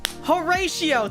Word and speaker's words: Horatio: Horatio.